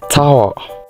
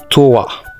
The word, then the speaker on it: tower: sour not s sour this is Tower not TOA it is Tower this is Yol not